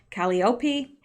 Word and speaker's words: Calliope: And Calliope, I believe is how you pronounce that. Lots of people told me I pronounced it incorrectly in the last video I mentioned this in. So I think that is correct, Calliope.